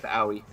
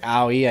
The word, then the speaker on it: Owie: to say her name her name is owie like like owie i just stubbed my